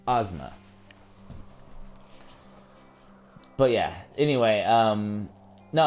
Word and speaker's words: Ozma: also mispronouncing cheating it's called it's it's actually pronounced Ozma you're right cheater it is pronounced Ozma but yeah anyway um no I mean honestly